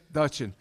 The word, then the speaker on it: Duchin: it says, to me, I would pronounce it Duchin, or is it Dutchin? D-U-C-H-I-N. Moi, je dis, but let him say it the correct way. Dutchin. Once again, Dutchin.